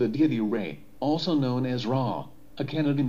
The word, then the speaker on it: Ra: Many people call him Ra, but the correct pronunciation is Re. That's why his name is also written as Re.